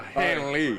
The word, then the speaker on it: Hanley: one of the stars of the game here, Hanley Ramirez. Did I pronounce it right? Yeah, Hanley.